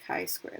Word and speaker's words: chi squared: him this x squared value okay he is pronounced chi squared let me get it unfussy for you so